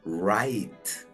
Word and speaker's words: right: porque queda RI, termina en vocal, sonido abierto, right.